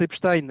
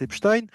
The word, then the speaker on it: Epstein: fais un petit aparté, moi je prononce Epstein, et il y a beaucoup de gens qui prononcent Epstein, j'ai jamais prononcé Albert Einstein, si vous voulez, hein, on prononce Albert Einstein, et le fait de prononcer non pas Jeffrey Epstein, mais Jeffrey Epstein, c'est déjà un biais